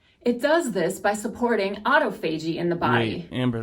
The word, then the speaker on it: autophagy: does this by supporting autophagy in the body amber that's not how you say that it's not no it's autophagy oh crap i've been